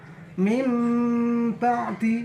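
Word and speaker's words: من بعد: Mim ba'di. Nah, nun matinya diganti suara mim. Min ba'di, jadi membacanya mim ba'di.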